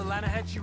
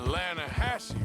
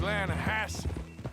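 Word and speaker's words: Lannahechee: You mean the Lanahatchee River? No. The Lanahatchee. It runs right near here. Yeah, but it's pronounced Lanahatchee. Why is everything in English said differently than it's written?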